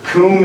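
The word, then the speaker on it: cwm: So coom is it's a weird word. It's spelled C-W-M. How do you get coom out of that? But it's Welsh. It's a Welsh word, and it actually means,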